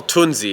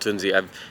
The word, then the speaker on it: Tunze: We've made it here in Germany at what we call Tunze. It's not actually called Tunze. It's pronounced Tunze. Tunze.